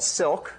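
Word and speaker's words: Cilk: developed a Dynamic multi-threaded language called Silk spelled with a c because it's based on the language C and it's not an acronym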